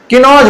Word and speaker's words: कन्नौज: किनोज बोल दिया था। ठीक है? वो देखो स्पेलिंग में फर्क है।